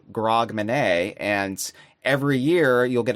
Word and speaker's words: Grogmanay: It's for Grogmanay because it rhymes with Hogmanay.